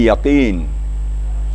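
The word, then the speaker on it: يقين: Kemudian yakin. Yakin itu kafnya. Kafnya jangan terlalu tebal.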